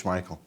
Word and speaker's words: Schmeichel: they say um but the people always just said schichel they always said always said in fact my mother pronounces Asel yeah she does yeah but she's the only one even my father says schmeichel okay but it's the